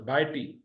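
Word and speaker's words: ڀائٽي: भा एक हिस्सा, ए दूसरा हिस्सा, टी तीसरा हिस्सा, BHAA भा, एपोस्ट्रॉफी यानी पॉज आया, AEY दूसरा हिस्सा, TI तीसरा हिस्सा, भाई टी यानी भतीजी यानी नीस।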